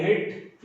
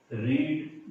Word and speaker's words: read: अगर ये पास्ट में होता तो याद रखिए रीड के तीनों फॉर्म में सेकेंड फॉर्म जो होता है उसका प्रोनाउंसिएशन रेड होता है, थर्ड फॉर्म भी इसमें रेड होता है, READ, ताकि पता लग जाए कि कौन सा फॉर्म यूज किया गया।